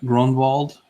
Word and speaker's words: Gronwald: okay so uh gronwald says I say his name right so I'm gonna go